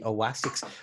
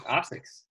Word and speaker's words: Asics: Do you ever see people who get the big chunky Oasics? What are they called? How do you pronounce that? Oasics? I think it's just Asics.